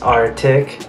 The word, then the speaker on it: RTIC: minute arty I see I think it's pronounced artic because there's a polar bear right there look yeah now peace